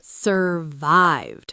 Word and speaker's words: survived: Survived. Survived. Stress on the second syllable.